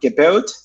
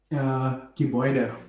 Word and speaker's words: Gebäude: our Airtable, and it shows you the word Gebaut, which is the German word for building. Is this how we pronounce it? Gebaut? Gebäude.